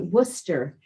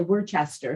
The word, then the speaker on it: Worcester: Some of them are There's tricky. one that's Worcester, and a lot of people say Worcester. Well, I called it Worcester. That's the way it was it's spelled. Exactly. And they're like, that's not the way you say it.